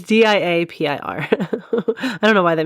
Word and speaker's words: diapir: I think it's diapir, but literally it's not spelled like diaper, but I was going to pronounce it diaper. It's diapir.